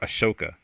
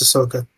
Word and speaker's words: Ahsoka: Is it Ahsoka or Ashoka? No, it's Ahsoka.